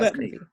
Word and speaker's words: Bettany: With Paul Bettany, I think is how you say his name. Oh yeah, I did see that. Yes, Paul Bettany.